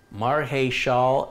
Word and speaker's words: Marichal: Marhe Shal and Shah Ogay are the pronunciation for Marichal, Yvonne Marichal.